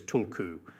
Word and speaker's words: tulku: The authentic Tibetan pronunciation of this word is tulku.